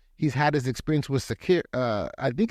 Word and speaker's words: Sakr: He's had his experience with Sakir. I think it's Sakir. It's Sakr is how it spells. So I believe that's pronounced Sakir because otherwise it's Sacker, which I don't think is right.